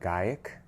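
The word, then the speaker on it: Gaïac: I think it's pronounced Gaiac, like Gaia with a C, number 10.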